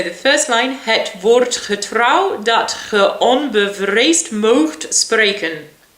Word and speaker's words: getrouw: Getrouw, I thought of get row.